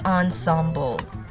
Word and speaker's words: ensemble: Next, we have the ensemble. How do you pronounce that? Wait, let me search. Ensemble. Okay, so according to Merriam-Webster, it's pronounced as ensemble.